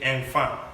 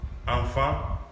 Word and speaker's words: enfant: Don't be tempted to say enfant. No, it's wherever you see EN, EM, AN, AM, it is pronounced nasally. So it is enfant, tan, dan.